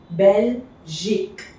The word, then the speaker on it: Belgique: EL is CFLR is pronounced, so this becomes kel. Belgique.